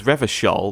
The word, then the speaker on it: Revachol: He pronounces Revachol with a hard K, unlike other people.